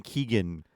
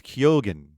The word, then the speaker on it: Keoghan: I think I was saying Keegan for the longest time, but it's Keoghan.